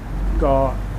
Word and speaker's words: เกาะ: and Thai is G it's not call it's not spelled with a K and Tha it's spelled with like a g sound how do you say Island and Tha go we are on the